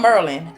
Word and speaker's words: Maryland: come on bro I'm not getting I'm from Merlin of course I pronounce Merlin instead of Maryland I mean what is even a Maryland Maryland